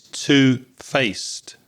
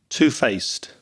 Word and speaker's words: two-faced: very sibilant s sound at the end of face so that e d sounds like a T sound two-faced if you are two-faced you are insincere that's